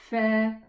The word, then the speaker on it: ف: Let us pronounce it properly. Fa. I'm pressing the edge of the upper incisors against the the inside of the lower lip, so that the letter fa is heard properly.